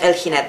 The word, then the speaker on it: El Jinete: El Jinete. Like an H. El Jinete.